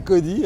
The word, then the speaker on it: Kody: Alors, pour ceux qui ne me connaissent pas, et Dieu sait s'ils sont minoritaires, mon nom c'est Cody, hein, ça s'écrit K-O-D-Y.